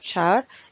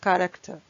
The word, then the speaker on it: char: je dis Cara donc il y a des gens qui le prononcent Chara mais la prononciation correcte c'est car parce que elle provient du mot anglais carct donc la déclaration car